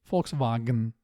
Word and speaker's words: Volkswagen: I should also mention the German pronunciation of Volkswagen. It sounds like a clear Ü to me. Volkswagen.